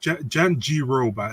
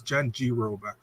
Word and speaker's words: Jandiroba: because it's not her name Jen Joba it's Jen G Roba it's Jen G Roba Joba there is no D you know I